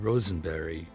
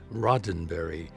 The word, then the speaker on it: Roddenberry: I'm here to see uh Mr Rosenberry and she said it's rotenberry and that got me you